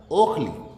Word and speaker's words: ओखली: ओखली होता है, और उसको हमने नाक से भी बोलना शुरू करते थे, ऊखली, या और नहीं तो औखली। वहां भी नहीं भाई, अनुनासिक है ही नहीं ये, इसलिए औखली है।